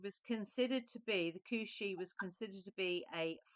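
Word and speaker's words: Cù-Sìth: So the second card is actually pronounced Kushi.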